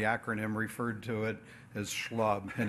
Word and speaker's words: SHLB: came in and not knowing how he was pronouncing the acronym referred to it as schlub and it's stuck ever since but I also